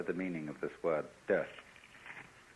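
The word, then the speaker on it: 德: meaning of this word, de. The Japanese pronounce it toku, the Cantonese dak, and the northern Mandarins approximately de.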